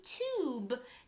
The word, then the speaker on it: tube: Tub, add a silent E. It's not tub anymore. Now it's tube, yube.